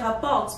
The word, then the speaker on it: rapportent: So you say rapports, but at the end there's ENT. You don't pronounce the ENT, so I cut that out.